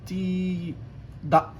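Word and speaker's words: tidak: عندك الكي بتتنطق اقرب للهمزه، هي كي بس مخففه قوي كانها همزه. زي مثلا عندك كلمه تي دا، تي دا معناها لا، او لا. تمام؟ تي دا تحسها همزه ولكن هي كي، يعني انت لما تركز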